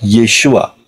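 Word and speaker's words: ישוע: Yang diucapkan adalah Yeshua. And the pronunciation is Yeshua.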